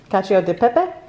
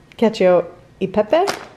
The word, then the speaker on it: cacio e pepe: and fresh how do you say that babe cacio de pepe pepe cacio e pepe ravioli we're gonna make those for dinner tonight